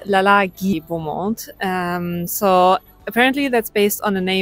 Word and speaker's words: Lalage Beaumont: I had the loveliest time at, okay, let me try to pronounce it correctly. I did ask. It's Lalage Beaumont.